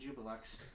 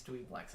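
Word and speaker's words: Juiblex: It is spelled Jubilex. Oh, Dweeblex. Oh, That is how it is pronounced. I always pronounce it Jubilex. Well, it's Dweeblex.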